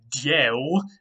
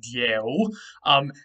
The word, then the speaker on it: dyeu: The root we're going to be looking at today is dyeu. I know it's a little bit hard to pronounce, but that's how it would have originally been pronounced in Proto-Indo-European, something like dyeu.